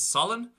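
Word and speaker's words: salann: thing then for s the word for salt is Solin so normal sharp pronunciation Solin but if I said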